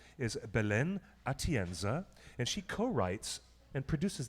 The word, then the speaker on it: Atienza: And her name, this lovely woman, her name is Belen Atendia. I can pronounce her name very badly, but I'll try it one more time. I'm sure we've probably butchered that name. Belen Atienza. It's Atienza.